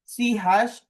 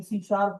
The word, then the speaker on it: C#: रहे हैं वो बेसिकली लिखी तो सी हैश जाती है, लेकिन जब उसे पढ़ा जाता है तो आप उसे प्रोनाउंसिएशन में सी शार्प बोलते हैं।